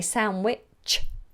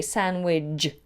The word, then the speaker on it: sandwich: oh okay Oh interesting Americans say sound which with a Chuck and British say sandwich sandwich sandwich yeah I